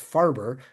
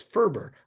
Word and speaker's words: Ferber: I always thought his name was pronounced Farber, but when I looked it up, no, it was Ferber was how he pronounced it.